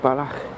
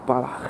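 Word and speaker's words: Balloch: Okay, it's pronounced Balach, and it's in 4:01. Got about a minute and a half then. So Balach.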